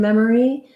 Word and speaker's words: memory: Then we have the letter O in memory. Sounds like a schwa, so it's an sound. Even though it's spelled with letter O, we don't do anything rounded or O-like.